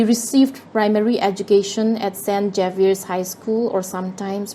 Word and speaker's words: Xavier: Xavier's High School, or sometimes pronounced as St. Javier's High School, and St.